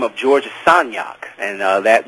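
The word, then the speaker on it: Sagnac: to the e by the name of George sonak and that name that last name is spelled s a g n a c I'm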